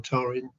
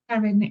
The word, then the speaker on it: Taryn: Is it Taryn or Tarin? Taryn is right.